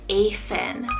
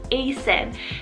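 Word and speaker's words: Aceyn: So I have the name Asen, spelled A-C-E-Y-N, Asen.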